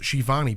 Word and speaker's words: Schiavone: Former WCW announcer Tony Schiavone, because he goes in brackets, pronounced Shivani Betson, because I know you would have got it wrong, is reportedly, quote, locked into a deal with All Elite Wrestling.